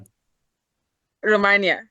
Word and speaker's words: Emilia Romagna: Emilia Romagna.